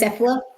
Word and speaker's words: Cephala: And so I'm going to name, her name is Cephala. She, like SELFA.